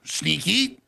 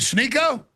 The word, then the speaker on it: Sneako: You call me Sneaky. Let's say my name correct. Sniko. Snicklets. Snooper. Snycotic. Is Is it Sneo? Yeah, there you go.